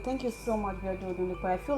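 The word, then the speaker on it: Odunukwe: Yeah, so I pronounced it wrongly. I'm going to say Odunlekwe. You have to pay for that. Odunlekwe. Odunlekwe is ODUNU KWE.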